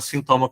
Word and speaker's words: sinthoma: A gente fala sintoma com H porque a pronúncia é a mesma, né?